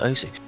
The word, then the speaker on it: osu: I feel sad because I feel like it's going to go to OSU before it goes to OS, the proper pronunciation, because there's just so many people that call it OSU at that point.